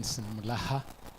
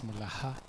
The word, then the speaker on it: Mulaha: My name is Mulaha. Please make sure you pronounce it as Mulaha. Not not Mora. Morai is a kissy lady and not Moriah and not Mulah. It is Maha.